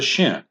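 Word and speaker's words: שׁין: If the dot is on the right side, then this letter is pronounced shh and is called the shin.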